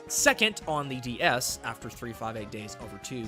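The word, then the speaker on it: 358/2 Days: Second on the DS after 358 Days Over 2, which is the correct way to say that.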